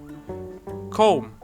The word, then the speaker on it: comb: a lot of confusion comb this word has a b at the end but we do not pronounce it and finally chaos this